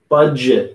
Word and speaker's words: budget: rules budget budget okay budget we're the d is almost silent but we're it's making a little sound bud budget but budget go ahead budget good